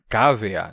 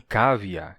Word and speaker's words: cavea: Que é cavea, não cavia, que é lankea, não lanquia.